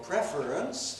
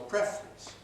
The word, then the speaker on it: preference: You can ask, what's your preference, 3 syllables, or you can ask, what's your preference, 2 syllables.